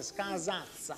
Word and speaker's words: Scasazza: Con la Z si pronuncia, Scasazza. Scasazza. Con la Z.